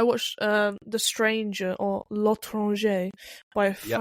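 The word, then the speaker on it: L'Étranger: I watched um The Stranger or Lron by Perfect Pronunciation.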